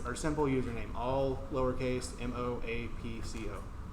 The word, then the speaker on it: Moapco: That's our simple username, all lowercase, M-O-A-P-C-O, right? That's how you spell it.